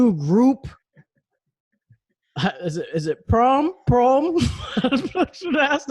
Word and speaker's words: PRØM: It sounds like the U in the word burn. So, PRØM. I want to say it like that. Yeah, just drop off. It's like Stewie Griffin saying prom.